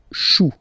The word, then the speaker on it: choux: Then, un chou, okay, remember, when you combine this C and H, you get the sound sh. Chou, un chou, pluriel, des choux.